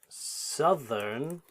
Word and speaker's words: southern: Please note that south is pronounced that way, but located in southern China. So please be aware the pronunciation for south is different to the adjective southern.